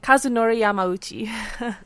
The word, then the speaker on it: Kazunori Yamauchi: of gran turismo um I'm gonna have Robin pronounce this for me o Kazunori Yamauchi yes show off Kazunori Yamauchi are Yamauchi llamo